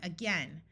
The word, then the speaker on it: again: has a short e the next most important word is the word again note that both of these A's schah which means they take on a muffled uh sound so this is again